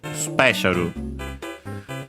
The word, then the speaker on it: スペシャル: Uh the accent is on the uh P just like in English just like in English. So special the is barely heard if at all the one of Sue